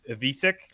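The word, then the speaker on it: Ivišić: And I'm glad you said it because I was saying Ivisic all weekend, so I'm glad I didn't have to sound silly. You said Ivisic is how we're pronouncing it. It's the I Croatian.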